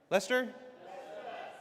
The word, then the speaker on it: Leicester: Uh, straight out of Kleser back engineering photos from Leicester. How do you say? Is that Leicester? Lester.